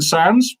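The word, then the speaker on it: Sandys: have you got then Duncan sands Sandy's pronounce sands thank you very and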